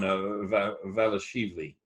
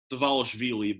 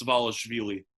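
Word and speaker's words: Dvalishvili: And of course, and how am I doing there on Valashili? Davalishvili, but close. So we are going to go ahead and pronounce the D. As far as I know, it's Davalishvili, but.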